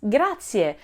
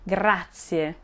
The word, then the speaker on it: grazie: is how to pronounce grazie without overlooking any syllable or sound grazie grazia now also be sure to roll your r if you can grazie for tips on how